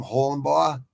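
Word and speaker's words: Holobaugh: good job Kurt uh hulenba I think uh they pronounce his name holenbaugh Holland boy uh someone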